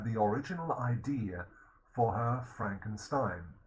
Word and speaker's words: Frankenstein: Mary Shelley also had the original idea for her Frankenstein, or Frankenstein in proper German pronunciation.